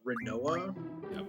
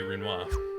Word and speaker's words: Rinoa: she is good at rhymes with quinoa better than rinoa which is how i